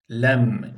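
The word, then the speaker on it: ل: K diye okunması gerekiyor lem lem ince bir harftir buna genelde lam diyorlar Buna da ilginçtir Kaf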